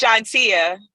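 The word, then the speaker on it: Shontia: will you sit here and let me keep mispronouncing your name it's chantia all right we need some offers i'm sorry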